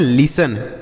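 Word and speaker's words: listen: इसे हम पढ़ते हैं लिसन क्या पढ़ते हैं लिसन देखिएगा यहां पर जो टी लिखा गया बच्चों एल आई एस टी ई एन यहां पर टी लिखा गया ना यह साइलेंट है इसे नहीं पढ़ेंगे तो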